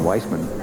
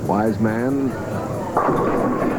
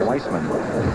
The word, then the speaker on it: Wiseman: Wise man another strike. I keep making that mistake with the pronunciation of his name. It's wise man. That's the way he likes Wisman.